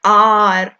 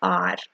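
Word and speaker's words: hour: एन आर बच्चे H silent है। Mostly H ना वर्ड्स में साइलेंट होता है। ही रिटर्नड आफ्टर एन आर।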